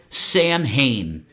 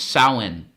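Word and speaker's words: Samhain: you know, as we say it as Americans, Sam Hayne. S A M H A I N. Sam Hayne. But the way you pronounce it is sin.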